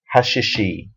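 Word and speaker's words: השישי: the second she and the reason the second letter is pronounced differently is because it goes with the yud at the end so it's yum hashishi and in Hebrew we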